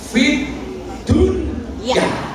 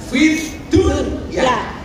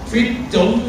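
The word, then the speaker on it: فِي الدُّنْيَا: Rabbana atina, ketika berbicara dunia itu kita disuruh membacanya dengan idhar. Idhar itu artinya apa? Jelas. Fit dunya. Ini menunjukkan apa? Urusan dunia itu harus jelas. Makanya kamu kerja di Hong Kong sebagai kunyan atau sebagai apapun, itu gajimu juga diperjelas dari awal. Makanya membacanya idhar. Fit dunya. Bukan idgham fit dong.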